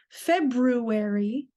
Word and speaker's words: February: February is spelled F E B R U A R Y. The R here is silent. So, we don't say February, we say February.